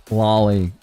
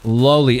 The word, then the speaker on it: lowly: It's not lolly. It's not Rari. It's lowly. Exactly. Like a lowly servant.